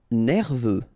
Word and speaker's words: Nerveux: Nerveux. Final X not pronounced. E-U, E, V, nerveux.